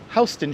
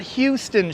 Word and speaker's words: Houston: coming up to uh hon streets not Houston Street hon streets we pronounce it hon because that's how you pronounce the family's name who used to own the land around here the Dutch family's name